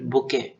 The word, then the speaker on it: bouquet: The florist created a beautiful बुके फॉर the wedding, ठीक है, इसको बुके बोलते हैं, ठीक है। स्पेलिंग ऐसा होता है BOUQUET, बुके, ठीक है, बुके।